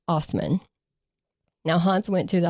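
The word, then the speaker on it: Assmann: It's spelled assman and a lot of people will refer to him as assman but it's actually pronounced osman.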